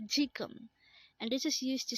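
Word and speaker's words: 지금: yesterday again means yesterday next word is chikung again it's jikum and this is used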